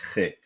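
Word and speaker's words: חית: This is Chet. Most Israelis pronounce it with a Ch sound.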